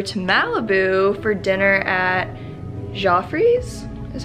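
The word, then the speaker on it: Geoffrey's: to go over to malibu for dinner at joffrey's is how you pronounce it um it's a little restaurant like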